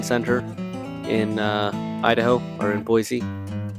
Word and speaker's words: Boise: It was at I think it was the Morrison Center in Idaho, or in Boise. Boise, not Boise. That's how they pronounce it.